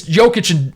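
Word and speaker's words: Jokić: is close to Joker but it's not it's pronounced it's jokic and and Joker it doesn't make any sense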